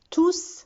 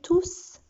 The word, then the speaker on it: tous: Mais quand il est pronom, on prononce le S. Exemple, les cours sur l'environnement sont difficiles, mais tous sont passionnants.